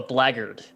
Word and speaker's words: blackguard: who is this rich he calls you a blaggered black and then i look looked up and it's it's spelled blackguard which i've read before and i'm like oh and i've never pronounced it correctly yeah interesting uh i've